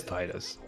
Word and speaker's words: Tidus: Like, I say it's Tidus from Final Fantasy X. I think a lot of people say it's Tidus, but it's Tidus. And I hate that it's Tidus, because Tidus sounds stupid. It is Titus. I agree with you. Titus pots. I think Titus is like the Latin pronunciation, which makes sense because it is derived from Titus, but yeah.